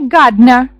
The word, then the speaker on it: gardener: A photographer, a waiter, a nurse, A gardener. Посмотрите, gardener на написание перед N ставится E. Буква, которая выпадает в произношении gardener.